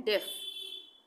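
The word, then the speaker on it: deaf: Bread, तो ई का उच्चारण हो रहा है यहाँ पे, ब्रेड। उसके बाद ये है डेफ, डेफ, डेफ।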